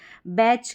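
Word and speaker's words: batch: बैच, कैच, हैच, मैच, फैच और switch, इस तरीके से यहाँ पर टी साइलेंट है।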